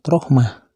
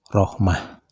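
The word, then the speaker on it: رحمة: rohmata bila dihentikan membacanya maka huruf ta marbutohnya harus dibaca ha seperti kalimat Rohmah begitu pula dengan kalimat rohmati dan kalimat rahmatu sama saja bila dihentikan membacanya huruf ta marbutahnya harus dibaca ha seperti kalimat Rahmah kalimat yang huruf akhirnya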